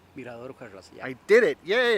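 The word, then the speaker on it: Mirador Ujarrás: Mirrador Ujarrás, yeah.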